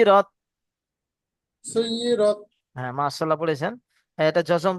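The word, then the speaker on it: سُعِّرَتْ: সুই হবে না, সু হবে। সু ইরত। সু ইরত। আইন আছে না এখানে, ইয়া নেই। সুই মানে ইয়া থাকলে সুই হতো, এখানে আইন আছে। সু ইরত পড়েন।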